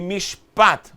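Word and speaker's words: משפט: As palavras originais é Hesed, Emet, Sedek e Mishpat.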